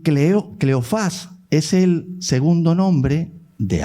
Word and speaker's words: Cleofás: María, la mujer de Cleofas, que estaba, tiene acento en la, Cleofás, tienes razón, de Cleofás, y que estaba con María Magdalena cuando estaban crucificando a Jesús.